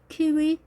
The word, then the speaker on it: kiwi: 자, 좀 더 길게 발음을 해줍니다. 둘 다 길게, 키위, 키위 이렇게 짧게 하는 것이 아니라 키위.